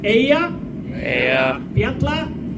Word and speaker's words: Eyjafjallajökull: Eyjafjallajökull. Diabla, your cat. Perfect. Woo! Give yourself a round of applause. Now spell it.